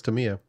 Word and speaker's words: Tamiya: Tamaya? Tamiya? Tamiya? Yeah, it's Tamiya. Is that just the name of the catalog?